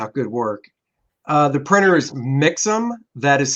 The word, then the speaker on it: Mixam: The printer is Mixam. That is spelled M-I-X-A-M.